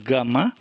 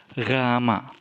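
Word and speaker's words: γάμμα: Okenya adalah huruf ketiga rama-rama bukan gama tapi ramma khusus keempat relta yang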